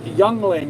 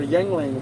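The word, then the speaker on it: Yuengling: It's pronounced Youngling or Yingling, Y-U-E-N-G-L-I-N-G.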